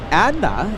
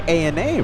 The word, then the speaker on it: ANA: Just like you wouldn't pronounce Adna. We say ANA, right?